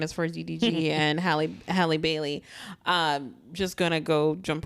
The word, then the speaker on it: Halle: Halle. Oh, sorry. I say Haley all the time. Haley, it's Halle as in Halle Berry. They spell it the same way.